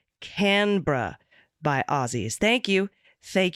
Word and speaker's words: Canberra: correction from Australia the capital of Australia is pronounced Canberra by Aussies thank you thank you very much